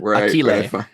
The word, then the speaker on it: Achille: Achille. Yeah, that one. Achille, What's it? yeah. Achille? It's Achilles, but pronounced Italian because that's who we are.